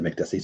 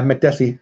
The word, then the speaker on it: Makdessi: got me mekdeci gray DC just said Makdessi so I guess I'm saying it right I don't know why I Makdessi it's gotta be that right Makdessi ooh Kenyetta it's got